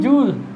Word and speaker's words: joule: ठीक है, इसको कहते हैं जूल। जूल का स्पेलिंग क्या, JOULE। ठीक, इसको जूल कहते हैं।